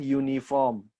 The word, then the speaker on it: uniform: note on difo disward bikin wife you Ah uniform a University nah kenapa ini eh bukan n